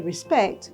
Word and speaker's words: respect: However, if you want to be an authentic Caribbean person, the word respect would be said without the pronunciation of the letter T at the end of respect.